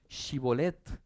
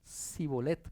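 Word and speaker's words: shibboleth: quiénes eran del otro, los ponían a pronunciar shibolet. Y había algunos que decían cibolet porque lo pronunciaban diferente. El que pronunciaba mal lo mataban.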